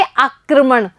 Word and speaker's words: आक्रमण: बच्चों जब पदेन लगा हुआ होता है जिस वर्ण पर, तो उसका उच्चारण हम उस वर्ण के बाद में करते हैं। जैसे क पर लगा हुआ है पदेन रे, तो क के बाद में हम रे का उच्चारण करेंगे और क्या बोलेंगे? आक्रमण।